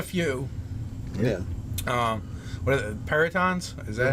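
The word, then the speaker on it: perytons: What are the peritons? Is that how you say it? Yeah, peritons.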